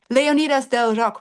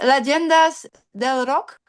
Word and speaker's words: Leyendas del Rock: Leonidas del Rock, right? Do I say pronounce it right? Leyendas. Leyendas del Rock. Yes, perfect.